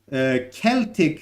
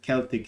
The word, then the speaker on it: Celtic: Celtic, let's have it here, Celtic, sometimes pronounced as a Celtic. It can be pronounced like this. Oops, what happened? So it can be pronounced as Celtic or Celtic. So it's Celtic.